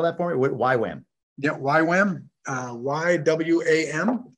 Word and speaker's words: YWAM: that for me what why wham yeah why wham uh y-w-a-m youth with the mission oh the letter y wham got it yes yep and we